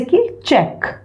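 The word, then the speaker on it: catch: अब यहाँ पे भी ट का कोई रोल नहीं है ना, साइलेंट है। कैच, कैच। Don't go for saying ट, यहाँ पे बीच में ट नहीं है, ये कैच।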